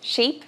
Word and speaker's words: sheep: Mas no inglês vogais tem um tempo diferente. Isso muda tudo. Porque assim, por acaso você já se perguntou qual que é a diferença da pronúncia de ship e sheep.